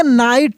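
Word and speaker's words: night: देखिए यहां पे लिखा है ओ एन ई तो सिंपल है यह कि वन है एन आई जी एस टी इसको पढ़ेंगे नाइट क्या पढ़ेंगे नाइट इसमें जो जी एच है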